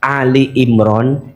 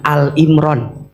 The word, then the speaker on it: Ali Imran: Kalau maca Ali Imran jangan Al Imran. Bacanya harus Ali Imran. Karena yang dibahas di situ maknanya keluarga Imran.